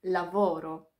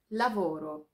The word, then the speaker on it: lavoro: słówka brusketta Espresso nioki pamiętajmy też o tym gdzie pada akcent w słowie Lavoro Lavoro drugi dość śmieszny błąd